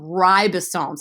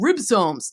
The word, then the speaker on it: ribosome: right those are called ribosomes a lot of people say Oh ribosomes but they're not they're called ribosome so I'm gonna write that